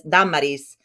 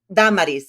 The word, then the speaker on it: Damaris: It's the accent is on the first A. So when I introduce myself in Spanish, I'll say, Mi nombre es Damaris. And then they'll say, oh, Damaris. And I'll say, Damaris, al acento en primera.